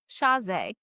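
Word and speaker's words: Chasez: I always say Shaz, but that's Shaz. I think that is right. J C H Shaz.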